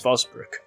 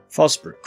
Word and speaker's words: Forsbrook: If we carried on in this direction, we'd be heading out of the city towards Fosbrook, Dillon and Cheadle. Fosbrook refers to Forsbrook, and Dillon as Dillon.